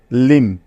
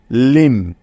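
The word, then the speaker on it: limb: ম এখন বাকি আছে বি যাকে পড়া যাবে না অর্থাৎ বি এর কোন উচ্চারণ হবে না এখানে তাইতো সুতরাং ল ইকার মদেরকে একত্রে যোগ করলে হয়ে যাবে লিম লিম ঠিক আছে কোনভাবেই কিন্তু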